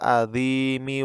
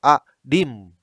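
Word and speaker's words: العظيم: Jadi bukan subhana rabbiyal adim wa bihamdih. Nah, bukan adim tapi adimi wa bihamdih.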